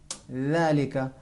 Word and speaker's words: ذلك: نہایت آسانی سے اس حرف کو جب ہم سیکھ گئے کہ زبان تھوڑی سی باہر نکال کر اس حرف کو تلفظ کریں گے ذالک.